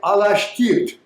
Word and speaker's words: Alashkert: Alashkert would be pronounced in Turkey today Alashkert.